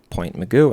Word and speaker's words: Point Mugu: And yes, that is the actual way that you pronounce it because I specifically asked a lifeguard up here. Um how do you pronounce Point Mugu? And he said, "Yeah, you're right."